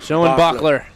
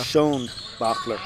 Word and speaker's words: Schoenbachler: Wonderfully pronounced, I think. I think so. We have a Huttenlocker and a Schoenbachler. Schoenbachler. There we go. Schoenbachler.